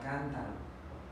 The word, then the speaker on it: cántaro: Ejemplo, la palabra cántaro, cántaro. Aquí vemos que la sílaba tónica es la antepenúltima. Acá dice que se acentúan todas, entonces el acento va aquí en cántaro.